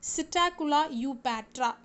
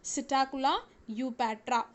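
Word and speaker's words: Psittacula eupatria: So the scientific name of this Indian parakeet is Psittacula eupatra. So what is, listen carefully, how do you have to pronounce it? Psittacula eupatra.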